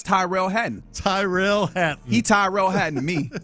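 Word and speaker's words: Tyrrell Hatton: The way that I say his name, that's Tyrell Hatton.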